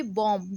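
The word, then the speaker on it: bomb: When you right it, the spelling will be बी ओ एम बी। जब आप इसे लिखेंगे, तो स्पेलिंग्स होंगे बी ओ एम B Baum. पर जब आप इसे पढ़ेंगे लाउडली तो it will be बॉम्ब बी ओ एम बॉम्ब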